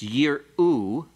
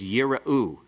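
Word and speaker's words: יִרְאוּ: The first one is yira'u. It has a vocal schwa. The second one has a silent schwa. Yir'u. Yira'u, yir'u. 2 totally different words.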